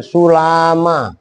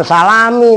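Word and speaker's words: سُلَّمًا: tangga makanya perhatikan nih gua tulis ini kan sulama bukan salami entar bacanya salami lagi Sula Ma nah ini Enggak ditasdid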